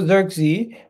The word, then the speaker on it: Zirkzee: zachar zachari key zachari sorry how do you pronounce this guy's name one second zery xery so Joshua xery who is a Wonder kid who came out